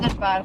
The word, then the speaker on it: Soderbergh: I don't know how people pronounce it. Soderbergh would be the correct pronunciation.